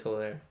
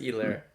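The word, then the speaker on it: Helaire: be buying clyde edwards told her clyde edwards either i've heard that h is silent but i would still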